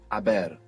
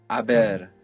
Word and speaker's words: haber: eaten, I have gone, in Spanish it's haber. Haber. H-A-B-E-R. And of course we have the silent H there.